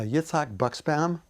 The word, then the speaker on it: Yitzhak Buxbaum: would tell us your name and how you spell it you're on yeah uh yitzhak buckspam y-i-t-z-h-a-k-b-u-x b-a-u-m great and then how would you